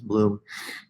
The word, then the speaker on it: Bloom: I just had it in my head that it's Blum, but it's not. It's Bloom.